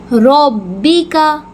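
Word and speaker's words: ربك: रब्बी का रब्बिका। र को पुर करके मोटा करके ही पढ़ेंगे।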